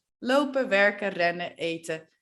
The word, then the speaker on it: werken: When we speak at a normal speed and with other native speakers, we don't pronounce the N and the E sounds like a. So we say lopen, eten, werken, mannen, pennen, rennen.